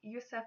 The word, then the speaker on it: Yusuf: Yusuf is the Arabic form of Joseph, which again means God will increase. This name can also be spelled with an O and pronounced Yosef instead of Yusuf.